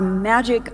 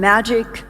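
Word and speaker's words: MAJIC: for joint intelligence and Magic spelled with a J in the United States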